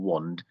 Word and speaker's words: Wonde: and passwords well that's where wand comes in wand is spelled w-o-n-d-e and it's almost like think of